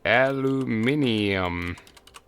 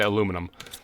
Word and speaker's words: aluminium: this one will be aluminium corre I believe is the correct way to say the English way uh and this thing is going to demand aluminum there we go bam